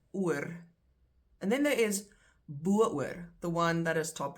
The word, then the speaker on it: bo-oor: If you want to accentuate the fact that you are going over the top, you say bo-oor. Spelled like that.